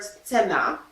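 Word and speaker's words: цена: Yes, and we have a word tsena, tsena, because this letter is always pronounced hard. So we don't have c like in English, but we have tse, tse, tsena.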